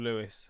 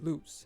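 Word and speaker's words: Lewes: I'm gonna say Lewis, just the name Lewis. I don't know. It is Luce.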